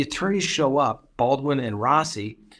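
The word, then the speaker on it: Rozzi: i r Oz zi I guess he pronounces it Rossi even though it's in Z really anyway the judge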